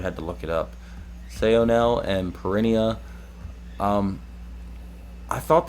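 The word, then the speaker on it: Saonel: oh now i have no idea how to pronounce it i actually had to look it up sayonel and perennia um i thought they were cool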